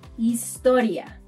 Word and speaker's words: historia: So, unlike English, where one says history, we say historia. Basically, we see the letter H and we ignore it.